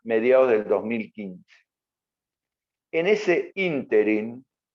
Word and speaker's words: ínterin: En ese ínterin, con acento en la I, cuando se sanciona la